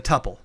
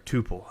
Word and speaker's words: tuple: It's a tuple or a tuple, however you pronounce it in Python. People pronounce it differently.